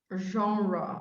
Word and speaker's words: genre: for it but genre genre oh yeah that sounded better oh it's hard this one is it's very hard to pronounce well genre french yeah like entrepreneur yeah